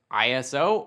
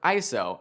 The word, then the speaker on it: ISO: ISO spelled out ISO, can be pronounced ISO or ISO and depending on where you are in the world, you might hear both and both can be used.